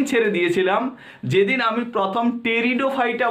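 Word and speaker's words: Pteridophyta: English পড়া তো আমি সেদিন ছেড়ে দিয়েছিলাম যেদিন আমি প্রথম টেরিডোফাইটা বানানটা লিখতে গিয়ে টি লিখেছিলাম।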